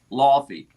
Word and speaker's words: Laffy: Proper pronunciation is Laffy. We're gonna boogie. You have to curl your lip like that. You have to go Laffy like that.